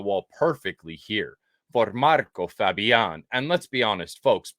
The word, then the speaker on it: Fabián: perfectly here for Marco Fabián. And let's be honest, folks, please, for the love of God, Fabián is not hard to say. Stop calling him Marco Fabian.